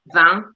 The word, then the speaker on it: vin: well so vin so vin in french is wine and you would pronounce it van and so combine that